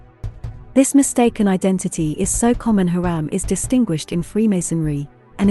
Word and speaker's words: Hiram: and a bronze worker in the king james version of the bible hiram is pronounced haram for hiram abif the